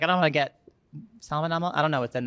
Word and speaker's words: salmonella: Not the same as salmon, which is weird.